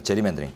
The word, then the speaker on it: 게리맨더링: 그 다음에 4번 오른쪽 자의적인 선거구 획정, 게리맨더링. 원어로는 제리맨더링입니다. 제리맨더링.